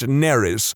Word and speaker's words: Nerys: be fine, except that it's spelled exactly the same as a Welsh name, which is pronounced Neris, which is entirely not what I was going for.